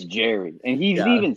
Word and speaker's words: Jerry: uh my club we decided are we going Gary or Jerry his name's Jerry it's g-e-r-r-y that is no Gary is g-a-r-y yeah yeah I understand what you're saying but Michael is correct it is pronounced Jerry it's Jerry and he's even said it like